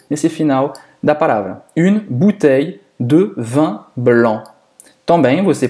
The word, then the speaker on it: bouteille: Para pronunciar esse bouteille, hein, esse EI, é como se fosse um I longo aqui.